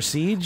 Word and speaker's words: Ceej: So it was, CJ, and they just got lazy on me and made it Ceej. So, Ceej. Yeah. All right. It works. One syllable.